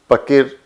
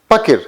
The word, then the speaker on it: पकिर: जब हम कहते हैं पकिर, हम पाकिर नहीं कहते हैं, हम कहते हैं पकिर, तो यह है पकिर।